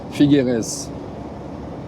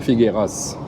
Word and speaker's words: Figueres: Donc voilà, ça se prononce Figueres et pas Figueras.